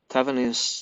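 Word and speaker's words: Thévenin: Luckily, Thevenin's theorem can make things much easier. By the way, the authors of the theorem was actually a French engineer, so his name should be more correctly pronounced Thevenin.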